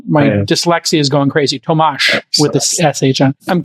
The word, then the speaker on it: Tomasz: Tomasz with an SH at the end. Yeah, Tomasz. I knew I was doing it wrong, and my dyslexia is going crazy. Tomasz with the SH on.